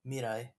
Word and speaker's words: Mirai: However you want to pronounce it, if you want to be more accurate to the Japanese pronunciation, it is more like Mirai.